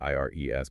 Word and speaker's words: Ires: There's Ires, which is spelled I R E S, but pronounced Ires, and Ivy.